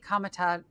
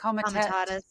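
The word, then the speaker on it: Comitatus: duty Marines to Los Angeles violated the Posi Kamat, how do you say it? Komaatus.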